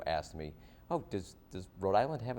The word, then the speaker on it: Rhode Island: People from other places say it like it's an island, like Road Island, right? Rhode Island. As if like it's, you know, like, you know, Long Island like like No, it's Rhode Island, not Road Island.